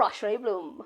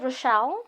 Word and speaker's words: Roch-Lé Bloem: and may guys let's put it together for Rashray Bloom.